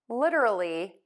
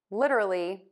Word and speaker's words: literally: We have literal, literally, literate, and illiterate. So let's tackle what is really difficult for most people. It's that flap T that you're hearing.